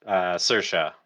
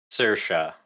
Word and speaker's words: Saoirse: I don't know how to pronounce this one. Series. Oh, it's hold on. Saoirse. Saoirse.